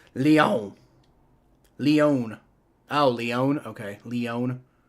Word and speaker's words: Lyon: Pronounced Lyon.